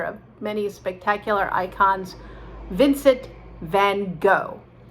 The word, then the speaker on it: van Gogh: icons vincent van gogh now again these people say you're pronouncing it wrong it should be van gaac or if you really want to sound dutch say then but nobody says that we are fine with vincent van gogh and i think that's